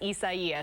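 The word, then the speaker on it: Isaias: but they're pronouncing it or telling us to pronounce it as isaiah so there's the official word from the national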